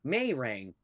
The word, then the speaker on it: Marang: They hit me with the Marang, Marange. Yeah. Is it Marange? And I'm like, I don't know. Are you brain dead? Because it's spelled out Marang, Marang.